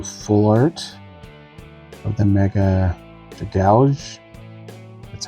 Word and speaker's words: Dragalge: So I am still looking for the Frogadier, the Ampharos of the IRs, and looking for the full art of the Mega Dragalge.